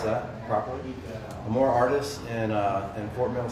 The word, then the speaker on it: Amor Artis: more artists which i just learned how to pronounce that properly more artists in uh in fort mill south carolina and